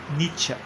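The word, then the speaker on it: Nietzsche: o Superman de niet na pronúncia alemã nieta né nieta então nieta de certa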